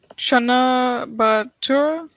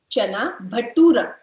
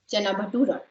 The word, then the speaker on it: chana bhatura: A letter or U letter, and it is pronounced as dum. Dum biryani. Okay. Next one is okay, yeah. Is it chana batura? Chana bhatura. That's correct. Chana bhatura.